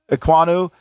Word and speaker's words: Ekwonu: And all these tackles, whether it was Evan Neal, who I think played good, I think Cross, I think Iwaku, is that how you say it? Ekwonu? Ekwonu, he kind of was up and down.